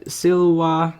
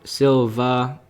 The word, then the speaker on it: silva: we got silwa Silva It's it means Woods in Latin because they're in the woods and these are pronounced W in Latin so I keep see saying silwa I mean Silva if it's pronounced in its English form this is grouse so